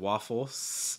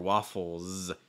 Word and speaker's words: waffles: just a quick note waffles notice that that s comes after the l the l sound his voice like o so that means the s is going to be voiced too so that means instead of waffles it's going to be more waffles it's going to be voice slight z sound so make sure your throws vibrate it's not chicken waffles